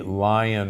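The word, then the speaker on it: Lyon: humans which was called the lion heart diet or the leone heart diet l-y-o-n but most from leon france but most people pronounce it lion there that diet in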